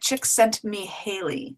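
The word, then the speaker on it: Csikszentmihalyi: it's o yeah it's yes um oh she pronouncing it chick sent me Haley chick oh my gosh Barbara you've just changed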